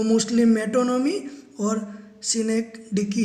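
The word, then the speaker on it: synecdoche: सिनेक dickey. इसका pronunciation थोड़ा awkward है तो मैंने लिख के दिया है आपको सिनेक डिकी।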